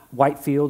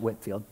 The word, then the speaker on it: Whitefield: There was a gentleman before the American Revolution by the name of George Whitefield or George Whitfield. It can be pronounced both ways. It looks like Whitefield, but they call it Whitfield.